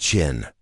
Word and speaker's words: Qin: The name China itself is derived from the name of his state, Qin, pronounced Qin.